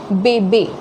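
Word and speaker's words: bébé: So for example, this is bebe, be. So you see the E has more emphasis, be, okay.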